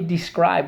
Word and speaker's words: describe: First syllable, you got it. Second syllable, scribe. All right, so we have 3 things to mark up. Let's go. Underline the E, the I, and the silent E twice.